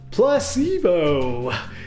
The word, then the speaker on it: placebo: to our vocabulary today repeat after me Placebo the stress is on the middle syo see Plus sea Bell